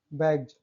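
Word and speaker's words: bags: शब्दों के अंत में बी ई ji double ji जी E double E आई ई ओ ई वाई ई एफ आई और इसके तुरंत बाद एस आता है तो इसको उच्चारण ज होता है।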